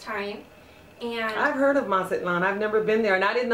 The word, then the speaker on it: Mazatlán: And I've heard of Mazatlán. I've never been there. And I didn't know that, that it was silent like that. Yeah. Because I think the Americans say Atzlan or something.